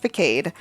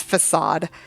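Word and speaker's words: façade: concerned in the Pokémon games that move is pronounced fade so I read the word as fade because of Pokémon um yeah it's facade um when it has the little Wily on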